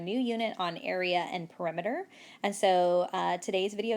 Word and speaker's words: perimeter: word here is perimeter I know it looks like perimeter and I know somebody will call it that but the correct way to say it is perimeter can you say it